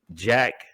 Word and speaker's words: JVCK: And Name then- is Jack? Yeah, it's spelled JVCK. His God-given name is, but he goes by Jack, spelled JVCK.